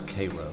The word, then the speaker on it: Cairo: And only in the state of Georgia could we pronounce Cairo as Cairo.